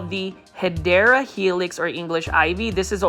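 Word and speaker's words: Hedera helix: I purposely say Hedra Helix because I really thought that that was the correct way of pronouncing Hideera Helix. So thanks to the Plan Fully that gave me the insight that that was the incorrect way of saying it.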